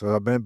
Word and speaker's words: Robin: La secretaria de Martha Robin, se escribe Robin, ¿verdad? Pero es Robin, B-I-N.